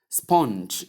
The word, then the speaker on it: sponge: So you simply say not spawn or spong soft at the ending is simply sponge sponge. Sponge noted.